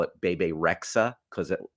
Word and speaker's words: Bebe Rexha: Right now, I'm going to ask you to pull up a picture of pop star Bebe Rexha You got it. because it rhymes with the device.